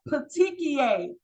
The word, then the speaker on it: petechiae: Next, this word is pronounced petechiae.